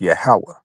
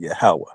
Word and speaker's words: Yahawah: names, I'll tell you according to the PaleoHebrew, it would be pronounced Yahawah, right? So the PaleoHebrew would be um like the ancient uh Israel Hebrew. So that's why we pronounce it Yahawah.